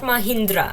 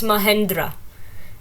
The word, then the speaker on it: Mahendra: yellow it's Mahendra Sangha Mahendra not Mahindra it's Mahendra how I pronounce